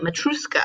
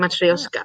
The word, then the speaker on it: Matryoshka: was But spelling it wrong, and that's probably why I kept spelling it Matruska. oh, Matryoshka.